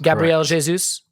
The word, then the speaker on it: Gabriel Jesus: people want me to say his name right gabrielle jesus is that yes gabrielle jesus yes gabrielle jesus comes in and he plays